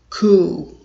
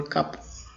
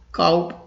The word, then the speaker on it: coup: The last, which is very common and really people mispronounce this word when they see this word is coup, not coop or cup. It's a noun. People mispronounce it coup or coop. It's really abused by the people. The correct pronunciation is only coup. If you see C-O-U-P, you will pronounce it coup. That's the right pronunciation.